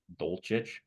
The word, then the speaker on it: Dulcich: Dolchit? Dolchich, Dolchich? Dolchich.